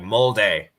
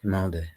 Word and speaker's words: Molde: Chris says it's pronounced mold, like we pronounce Saint and Mane. Oh, mold, like molde, like this. Is that how you're supposed to pronounce? Molde, like Sane, Mane, molde.